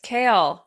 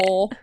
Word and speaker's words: Chaol: Yes, kale, which if you're reading can be rather interesting to figure out how to pronounce. So there you all go. I thought he, Cole.